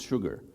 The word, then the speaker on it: Sshoogr: this letter combination and many people ask me how to pronounce that and it's quite easy it's sugar so shalt salt pepper sugar so my name is